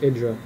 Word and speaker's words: IdrA: I've been saying Idra this whole game. It's actually pronounced Idra.